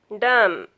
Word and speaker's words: dumb: When B comes after M, B is not pronounced after M. B is silent after M. If our words end in B, MB, then B will be silent. These words, if our words end in MB, you don't pronounce B. B will be silent. You pronounce this word is climb, bomb, calm, karam, dumb, limb, num, thumb, tomb, womb. All these words sound M. Last words say mm.